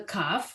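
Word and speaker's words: כ: Still a kaf, sounds like a K.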